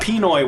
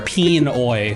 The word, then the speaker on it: Pinoy: He's really stretching out the peen, the first syllable there. Pinoy.